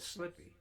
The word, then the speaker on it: slippy: Slippy. Oh, slippy. Yeah. Yeah, it's slippy out. Be careful. They just miss a few syllables there.